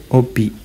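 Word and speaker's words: hobby: bahasa Prancis artinya Le obi ya Le Obi huruf h dalam bahasa Perancis tidak diucapkan Le Obi hobi kemudian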